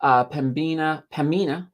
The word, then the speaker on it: Pembina: Pembina. I gotta be careful not to pronounce that B because it's silent.